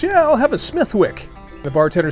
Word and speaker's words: Smithwick: Although spelled Smithwick, they pronounce it Smithwick."